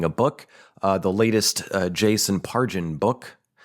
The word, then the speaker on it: Pargin: Oh yeah, I recently finished reading a book, the latest Jason Pargin book. I think that's how you pronounce his last name, like a J instead of a G. Jason Pargin book.